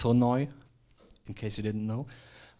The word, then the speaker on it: Sonoj: it this is the Soni website so it's pronounced sooi in case you didn't know um and how